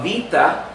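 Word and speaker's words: βήτα: the grocery store alpha beta but I'm a beta or in Greek alpha vita because the way modern Greek pronounces it actually is the same as the olive eight so the being sound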